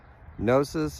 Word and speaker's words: Gnosis: So Nosis is a word with an interesting history. It's spelled G N O S I S.